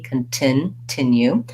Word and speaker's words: continue: release my t continue it doesn't have a stopped t or flat t like many words with t in the middle that's because the t starts a stressed syllable it's just the same as the t at start of words so for some of